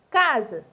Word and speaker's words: casa: Casa se escreve com S e ele tem som de Z.